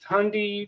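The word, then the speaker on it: Thandie: okay saying too much wait how is it pronounced it's Tandy right it's Tandy Newton yeah Andy Newton better actors better actors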